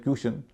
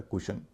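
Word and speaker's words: cushion: और सेल्यूलर इसी तरह सीयू एस एच आईओ ए कुशन इसमें भी यू से पहले सी है जिसका उच्चारण क है नियम से उच्चारण होना चाहिए क्यूशन होता है कुशन एस यू पी आर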